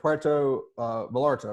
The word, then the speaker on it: Puerto Vallarta: Your guess of Puerto Vallarta, right? That's how you say it.